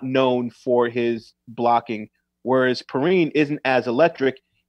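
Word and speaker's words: Perine: I think the pronunciation is Perrine. Perrine, yeah. Really? It's Perrine, yeah.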